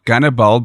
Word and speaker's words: Gannibal: the Great and then gunnerball because Russians pronounced Hannibal as Cannibal and the way he